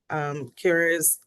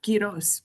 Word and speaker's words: Quiroz: And it looks like Secretary Kira's, I'm sorry if I'm pronouncing your name incorrectly, but I see that your hand is raised. Thanks so much, Shamara. Kiros, but I'm happy to send the phonetic spelling at a different date.